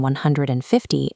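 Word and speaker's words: fifteen: With teen numbers, the stress lands on the second syllable. It's a long rising sound, 15. Compare that to T numbers, the stress hits the first syllable and the ending is blunt and flat, 50.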